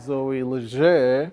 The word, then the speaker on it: Zoe Leger: I have Zoe Leger. I learned to pronounce it well.